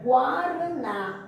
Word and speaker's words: guaraná: Vejamos aqui que nós temos bem aqui o exemplo da palavra linguiça, gui. Observa aí, da palavra linguiça e da palavra guaraná. O U, ele é pronunciado.